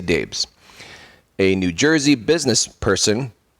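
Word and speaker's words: Daibes: menendez's and Fred dbes dbes is spelled d a i b s daes I'll say Daves a New Jersey business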